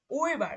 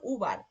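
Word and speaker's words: über: আর উর উচ্চারণ যখন করতেছি এই উটা এই যে উইবার দেখেন, উইবার এমনিতে যদি শুধু ইউ দিয়ে করতাম তখন কি হতো উবার, কিন্তু এখানে যখন umlaut আছে তখন এর উচ্চারণটা হচ্ছে উইবার, একটা ঝাঁকি হচ্ছে কিন্তু, এই যে এরকম,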